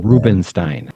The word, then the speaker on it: Rubenstein: Rubenstein, Rubenstein. No, Stein is how we pronounce it, Jay. Steen is how you spell it.